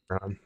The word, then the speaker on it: Keychron: Keychron. Key, spell it.